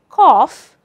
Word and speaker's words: cough: Well, in the word cough, the combination GH stands for fur.